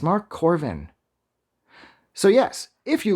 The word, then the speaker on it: Korven: you like this review do i say corn it's corvin jesus christ adam you